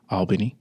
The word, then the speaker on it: Albany: Because you've went from a place from being in Albany, and I said it right? Yes, you did. Albany.